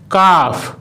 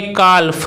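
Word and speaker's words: calf: যেমন কাফ, কাফ। এখানে কিন্তু এল লেটারটির উচ্চারণ সাইলেন্ট রয়েছে, অর্থাৎ এখানে এল লেটারটির উচ্চারণ করা হচ্ছে না।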